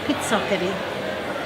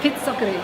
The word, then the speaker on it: Pizzoccheri: It's fantastic, and for those that don't know, Wanda's recipe, you'll have to pronounce it for me because I'm not so good with the Italian. Pizzoccheri. Pizzoccheri.